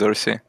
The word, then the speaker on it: Xerxe: it like kind of in the Romanian version which saw sounds like salsa okay without the S but then I I